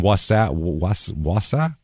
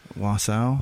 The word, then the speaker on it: Wausau: Or in Wausau? How do you say that? Texas? No, Wisconsin. Wausau.